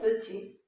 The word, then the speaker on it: petit: La première syllabe, c'est peu. Deuxième syllabe, ti. Mais on écrit tit.